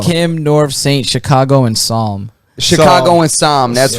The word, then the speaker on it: Psalm: I think the last one is a P, but it's not pronounced like that.